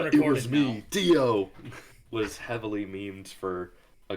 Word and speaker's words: Dio: given the way that words are pronounced on Cell, it would be Dio.